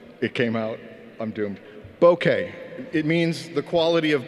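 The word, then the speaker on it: bokeh: use a lot of blur or bouquet it's pronounced bouquet Boca is a city in Florida also known as God's waiting room that came out didn't it it came out I'm doomed bouquet it means the quality of blur now if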